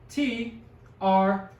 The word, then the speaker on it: cuatro: It's CUATRO. And it's pronounced cuatro. 2 syllables.